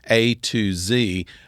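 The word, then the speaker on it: Atoz: very long knows that Mr atos is basically a to z uh pronounced together so uh what better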